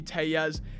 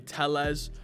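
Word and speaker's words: Tellez: this game and also i've been saying rowdy tell yes and a few of y'all have let me know apparently it's rowdy teles uh so my bad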